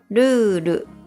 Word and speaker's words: ルール: But with the dash, the word is pronounced lulu. What difference does the dash make? The first vowel sound, u, becomes twice as long.